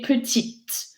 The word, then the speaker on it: petite: est grande, elle est petite, répétez: grand. -Grand. -Grand. Grande. -Grande. -Grande. Petit. Petit. Petite. Petite. So you get to pronounce the consonant before the e if it's féminin, petite.